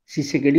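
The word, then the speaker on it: Tshisekedi: এস ই কে ই ডি আই টি টা silent রইবো সি সেকেডি উচ্চারিত হব টি সি এইচ আই এস ই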